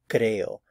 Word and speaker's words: creo: If you want to say in Spanish, I believe, it's yo creo. Notice there's two syllables, so cre and o, creo, creo. There's the emphasis is on the first syllable, creo.